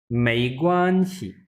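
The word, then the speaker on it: 没关系: Second tone है ना, मई। उसके बाद है ग्वान, फर्स्ट टोन में ग्वान। प्रोनाउंस करें फातिमा, मई ग्वान। मी ग्वान। और फिर है एक्स और आई, इसको हम कैसे प्रोनाउंस करेंगे? शी। बट क्योंकि ये शी। न्यूट्रल है तो बहुत शॉर्ट सा, मई ग्वान शी।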